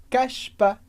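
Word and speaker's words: cache pas: Porque como Regra geral a gente não pronuncia as consoantes no final de palavras portanto caspa CPA e um comentário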